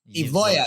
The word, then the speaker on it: Evloev: Evloev, yeah.